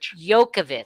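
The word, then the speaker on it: Djokovic: try Novak did yokovic yokovic that's what it is yeah you don't say the yeah D you ignore that and then the J is like a y all right yokovic denied entry into the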